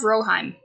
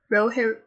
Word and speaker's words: Rohirrim: No, it's War of Rohirrim. Rohirrim. Huh? Am I pronouncing that wrong?